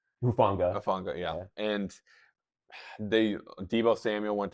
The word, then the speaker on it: Hufanga: But some key pieces they lost this year was Greenlaw, Olafungu, is that how you say his name? Hufanga, yeah.